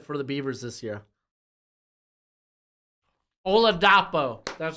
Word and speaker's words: Oladapo: been really good for the Beavers this year oladapo that's how you say his name GOI I